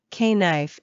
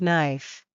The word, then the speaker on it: knife: I vividly remember the time I proudly said, "K-knife" instead of knife.